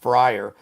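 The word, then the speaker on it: Fryrear: F R Y R E A R pronounced Frier.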